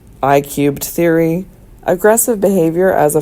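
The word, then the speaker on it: I³: This theory, pronounced I-cubed, is a general theory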